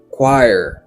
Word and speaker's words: choir: Oh no, no, no, no, mot ça il est prononcé comme choir.